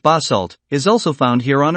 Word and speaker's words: basalt: Dark lava rock of this kind, known as basalt, pronounced basalt, is also found here on Earth.